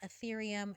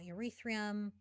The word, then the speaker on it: Ethereum: last thing is that it is pronounced ethereum not urethrium and that's it that's